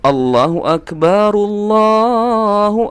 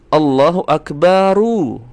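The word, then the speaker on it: اللهُ أكبرُ: Maka cara membacanya ketika diwasal atau disambungkan teman-teman, Allahu Akbar. Allahu Akbar. Perhatikan sekali lagi. Allahu Akbarullah, Allahu Akbaru. Ya, bukan Allahu Akbar Allah.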